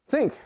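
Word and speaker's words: sinc: Rhymes with blink. Sync, thank you.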